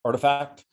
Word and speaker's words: RTFKT: bought a company called artifact rtfkt but it's pronounced artifact um and and if you look at this